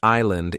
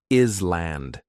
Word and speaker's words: island: The word island is hard because the S is silent. Many learners want to say island.